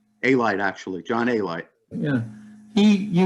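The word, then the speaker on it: Alite: One of the people you knew, Jason, was, how's it pronounced, Paul? Elite? A-Light, actually, John A-Light.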